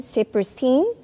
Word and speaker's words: Saperstein: Ambassador, Sir David N Saperstein. Did I pronounce that correctly?